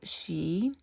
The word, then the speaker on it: Sidhe: Um it's pronounced she an ancient Scottish and Irish Gaelic word for the race of fairy beings who dwell in the hollow hills and burial mounds of the same name.